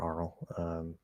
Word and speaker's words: aural: Yeah, you can pronounce aural as oral or aural.